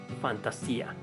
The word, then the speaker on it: Fantasia: goes to ephemeral Fantasia since the second word is in Spanish it might be pronounced Fantasia this game is considered